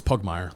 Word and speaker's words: Pugmire: but that was, like, it's Pugmire. Like, that's how you say it, Justin.